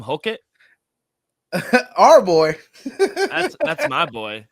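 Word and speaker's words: Hokit: Hokett? Our boy. That's my boy. If it's not our boy, it's my boy. Yeah. How Right. do you pronounce his last name? Yeah, Hokett.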